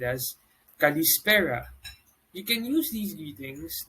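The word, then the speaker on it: καλησπέρα: good afternoon or good evening is said as kalispera you can use these greetings depending on the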